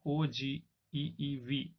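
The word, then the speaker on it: ogive: कहते हैं हम ओजीव, लिखा जाता है ओगीव हमारी हिंदी वाली इंग्लिश के हिसाब से, बट इसको प्रोनाउंसिएशन जो इसका होगा, बोलने का जो तरीका होगा वो क्या होगा, OGEEV, कुछ इस तरीके से इसको बोला जाता है।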